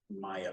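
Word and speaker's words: Maija: uh Kristen Maya Peterson Maya is spelled m a i j a Kristen Maya Peterson is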